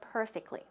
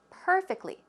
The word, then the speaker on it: perfectly: is the pronunciation of perfectly perfectly where does the stress go it goes on the first syllable perfectly perfectly but you